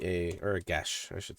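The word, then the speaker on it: geas: g e a or gash I should say right that's definitely not how it looks like it would be pronounced but I think it's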